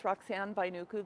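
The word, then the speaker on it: Roxeanne Vainuku: um okay we'll get started my name is roxan by Nuku the spelling is r o x e a n NE last name is spelled v as in Victor a i n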